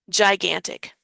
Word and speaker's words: gigantic: These G's sound like J just like this G sounds like a J because it is for before an I. So it is a soft G. Gigantic.